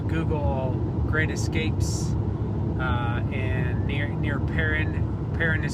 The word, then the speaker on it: Perrin: I just saw a sign up ahead about 2 miles away from the city of Perrin.